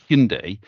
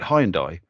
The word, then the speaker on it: Hyundai: it in the UK where you say hindai in the UK everyone called it hyai so they've just done a big a big push on this is how you say it so it's amazing to